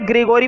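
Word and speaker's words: Gregory: इसको जो मर्जी पढ़ो, लेकिन मेरे हिसाब से ग्रीगोरी पढ़ेंगे, क्योंकि तुम यूट्यूब पे सर्च कर सकते हो तो इसकी प्रोनाउंसिएशन ग्रीगोरी ही निकल कर आएगी, फॉर एनी ग्रीगोरी।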